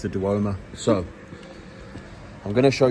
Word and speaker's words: Duomo: I might also show you a clip of the Duomo. Is that how it's said? Duomo. I've been saying De Mayo for the whole vlog.